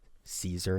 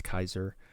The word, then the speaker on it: Caesar: Well, obviously, it's pronounced Julius Caesar nowadays, but it should be Julius Kaiser.